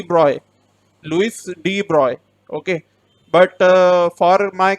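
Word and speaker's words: de Broglie: is it was given by deep broccoli okay d broccoli give give this hypothesis okay three broccoli hypothesis now we often say that it is rigged broccoli but its current correct pronunciation is deep broy okay it's de bruy okay it's connect correct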